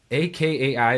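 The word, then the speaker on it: Akai: pronounce it uh MPK ak a k ai that's how it says I think it's pronounced a kai it's like a mini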